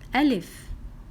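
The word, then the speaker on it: ألف: Okay, so we pronounce letter Alif like A or U or E.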